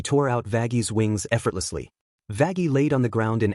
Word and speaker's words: Vaggie: Actually, it's pronounced Vagi.